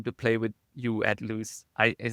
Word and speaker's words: Lewes: play with you at Lewes, am I pronouncing it right? Is Lewis, that yeah, Lewes? Lewis, yeah.